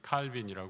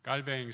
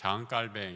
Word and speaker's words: 칼뱅: 갖고 있는에 장칼뱅이라고 하죠 우리 영어로는 존 갈빈 칼빈이 하는데에 우리 깔뱅 선생이이 스위스에서 활동했기 때문에에 불러 발음으로 자 깔뱅 이렇게 하는데 그분의 생각이 어떤 생각을